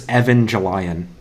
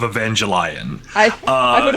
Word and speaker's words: Evangelion: what it's called I'm pretty sure it's Evangelion whatever I yes thank you thank you Nick absolutely 100 correct pronunciation of Evangelion speaking of correct pronunciations